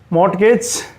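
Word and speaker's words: mortgage: तो पांडुलिपि मैनु script मॉर्गेज इसका टी साइलेंट कर दे मॉर्गेज और यह होता है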